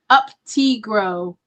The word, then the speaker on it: Uptigro: It said it's pronounced Uptigro, according to Ken.